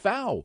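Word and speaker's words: Pfau: But the fact of the matter is that this article says they're a lot better than you think. And and you know, Professor Wade Fowl, you know, PA F A, but it's pronounced FA.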